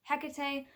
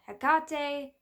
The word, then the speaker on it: Hecate: information for example with Hecate there are multiple pronunciations of the name so I most readily say Hecate there's also Hecate Hecate um all different sorts of pronunciations depending on the language the actual Greek pronunciation